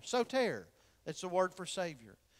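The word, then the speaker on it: σωτήρ: word Savior for instance the Greek word for Savior is so tare you can spell that if you're taking notes sot ER so tare that's the word for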